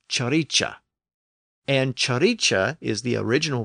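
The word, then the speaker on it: cirice: so that word becomes c i r i c e pronounced chicha and chicha is the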